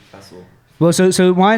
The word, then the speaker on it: Faisal: And so in like the Pakistani dialect, the way you would say my name is Faisal. Yeah, Faisal. Mera naam Faisal. Yeah, there you go. Mera naam Faisal. Yeah. So now, if you convert that into English, it just becomes Faisal, innit?